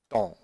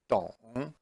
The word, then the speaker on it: 懂: And it is pronounced as 懂, 懂.